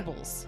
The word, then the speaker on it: Cubles: Cubles. Cubles, yes. Is there an R or a no? Because I think I said it wrong earlier.